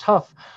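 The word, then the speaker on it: Hough: And in Cleveland, the riot centered on the racially segregated Huff neighborhood, it's spelled H-O-U-G-H, pronounced Huff, which at the time of the riots was, quote, one of the nation's most economically depressed African-American communities.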